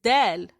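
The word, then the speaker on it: دال: This is dal.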